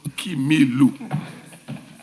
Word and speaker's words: Kimilu: I know the honorable member is called Kimilu.